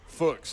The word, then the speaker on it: Fuchs: Fuchs, like books. Fuchs, like book. Y'all, no, absolutely not. He's Fuchs on this show. He has to be we're gonna Fuchs.